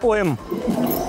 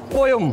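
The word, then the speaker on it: poem: पी ओ ई एम जिन्हों आप normally सारे बोलते हैं पोएम बोलते ना पोयम पर हुंदा की है पोयम पोयम सर पोयम पी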